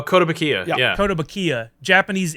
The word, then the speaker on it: Kotobukiya: Koto Bukaya, Oh, Kotobukiya.